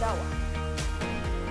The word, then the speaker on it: Ottawa: Locals will tell you that Ottawa is actually pronounced Ottawa. This is because the name actually comes from the indigenous group the Odawa or Odawi, which means traders, in the indigenous Algonquin language.